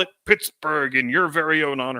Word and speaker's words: Pittsburgh: local phonology changed and people switched to calling it Pittsburgh with the hard G sound on the end and the reason why